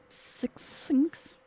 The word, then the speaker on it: succinct: Succinct.